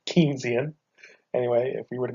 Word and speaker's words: Keynesian: So, if we were to go back to this method, which I believe for the last 5 minutes I've been pronouncing wrong, I believe it's actually Keynesian.